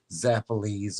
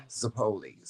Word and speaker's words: zeppoles: Everybody else says it zappolis or, you know, zeppolios or something like that, but it's actually pronounced zeppoles.